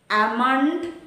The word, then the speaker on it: almond: rule rule number four when l comes between a and m l is not pronounced almond salmon palm etc silent